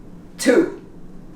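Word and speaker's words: two: before sword sword and of course too we don't pronounce the W and we're here at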